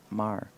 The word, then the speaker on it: Maher: Albert Ryan says yes, the H is silent. The H is silent. Maher? Mar. Or as we say in the South, Mar.